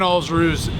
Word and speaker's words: Alsruhe: So go check out Brian Alsruhe's YouTube channel. If you don't know how to pronounce his last name, it's Alls like balls, and then Rue like kangaroo. So I think balls, kangaroo, Alsruhe.